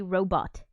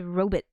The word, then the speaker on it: robot: instead of robot now we say robot like robot but before in the in the past they said ro bit like bi T sounded like that which is cool I